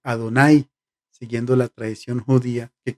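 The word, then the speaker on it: Adonai: la presencia de dios por eso el nombre de dios no se pronuncia las cuatro letras hebreas no se pronuncian los más sobre estás pusieron vocales y para pronunciar jehová o para pronunciar llave pero cuando llegamos al nombre de dios por ser impronunciable se dice ado nay siguiendo la tradición judía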